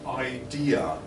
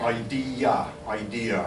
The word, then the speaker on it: idea: The first thing for Florian, the word idea. Florian tends to pronounce ID, and I think some people might not catch it first time. So that would be a recommendation to work on idea. So there's two syllables in the end of that.